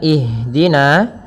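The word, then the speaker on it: اهدنا: bacaan ihdina di sini ada huruf ha yang dia sukun ha ada Salah satu sifat yang dia harus kita lafalkan ketika membacanya itu sikap eh maaf sifat ham ham artinya mengalir nafas kita mengalirnya nafas kita maka jangan sampai huruf Ha ini memantul misalkan ihin akan tetapi alirkan nafasnya ihdina ihdina ihdina ya dengan aliran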